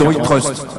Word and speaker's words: iTrust: Faut que je prononce comment? À la française. Ouais, on va rester souverain puisque c'est le principe de l'offre. Donc iTrust. Donc iTrust, allez.